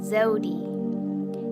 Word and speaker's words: Zewdy: My name is Zewdy. It's like Zoe. Not Zoe, but Zoe. I mean, I used to say Zewdy all the time, but it's Zewdy for those who are unaware.